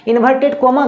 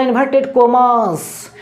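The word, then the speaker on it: inverted commas: इन्वर्टेड कोमा गलत है, हमेशा उसको बोलना इन्वर्टेड कोमास, इन्वर्टेड कोमास।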